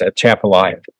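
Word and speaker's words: Atchafalaya: people try to lull you into thinking it's pronounced some other way, it's at Chapala.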